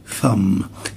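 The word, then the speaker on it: thumb: طب لو انا قصدي اصبع الابهام الابهام ده اسمه ثم. هنا البي لا تنطق والتي اتش تنطق فاء ف.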